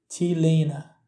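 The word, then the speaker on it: t-léine: Par exemple, pour dire le mot T-shirt, en irlandais se dit T-lena.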